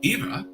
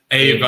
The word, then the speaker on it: Eva: Eva from New York, $25. Jay from Florida, $50. It's pronounced Ava.